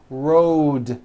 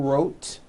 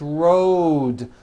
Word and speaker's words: rode: with a voiced D rode also has a voiced d ending Road it's not wrote unvoiced It's Road the whole word is voiced let's go over these